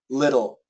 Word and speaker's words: little: English um it's uh the flap T is similar to a d and the perfect example would be uh uh this word little little little it's a d uh it's not a d but it's almost a d little little little little little it's basically a d it's a flap T